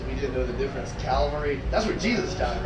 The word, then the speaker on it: Cavalry: Cavalry.